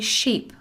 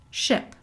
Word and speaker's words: ship: happen complete ship area notice that you don't say sheep okay ship I have a question